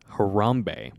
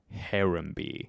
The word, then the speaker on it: Harambe: pod but all right she pronounced harambe as harembe harembe yes but like it's